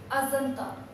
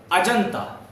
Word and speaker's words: Ajanta: Asanta. Ajanta. Right. Why are you pronouncing J as jet?